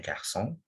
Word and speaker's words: garçon: Sedil ini bunyinya S, double S. Kayak ular gitu. Setelah huruf apapun, misalnya cara. Cara itu fasong bacanya ya. Terus ada contohnya ada anak laki-laki boy itu garçon, tulisannya bacanya garçon ya, pakai sedil gitu.